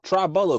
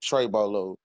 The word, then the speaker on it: Tra Bolo: you doing today um Tri bolo correct no no everybody uh everybody gets wrong no it's uh Trey bolo the greatest is my full name but Trey bolo is how you say correctly but you're good man